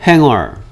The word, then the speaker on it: hanger: 이게 singer예요. singer면 얘도 뭐겠다? hanger. 됐습니까? 자, er 붙였죠? 그쵸? 얘 singer 같아요? cooler 같아요? cooler 같죠?